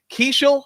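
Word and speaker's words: Keaschall: They had that rookie Luke Keeschel, I think is how he pronounces it.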